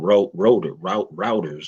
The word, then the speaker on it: Reuters: Now this is from Routers or Rotors, however you want to Reuters. pronounce it.